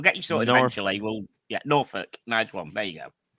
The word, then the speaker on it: Norfolk: an english education lesson by the way it's norfolk it's pronounced norfolk not norfolk norfolk i thought it was like north folk no well it looks like yeah they're great